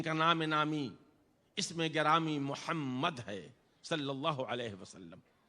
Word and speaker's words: محمد: ان کا محمد ہے۔ جب آدمی کہتا ہے محمد تو میم کے تلفظ کے وقت میں اس کے دونوں ہونٹ مل جاتے ہیں۔ گویا اللہ کا رسول